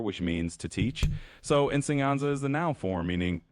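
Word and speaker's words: enseñanza: you say ensenaza Yeah, that war can be a little tricky. You say it like insyanza. So it's insyanza which means teaching or instruction.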